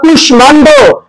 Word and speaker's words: কুষ্মাণ্ড: কি সংস্কৃত ভাষার শব্দ, অথবা কুষ্মাণ্ড সংস্কৃত, তো সংস্কৃত বা তৎসম ভাষার শব্দ যদি মফলা থাকে তার উচ্চারণ বজায় থাকবে, তাই এখানে মটা ময় এসেছে।